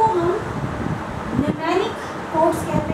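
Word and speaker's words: mnemonic: Numeric codes, M से spelling शुरू होती है, लेकिन हम प्रोनाउंस उसको न्यूमेरिक कहते हैं, MNU, किंतु प्रोनाउंस है न्यूमेरिक।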